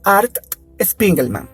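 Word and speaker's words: Art Spiegelman: van a perdonar la pronunciación de este caballero Art spingle Man creo que se pronuncia así Art escribió una historia esa historia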